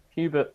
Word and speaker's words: Hubert: Hubert or Herbert? Hubert is fine.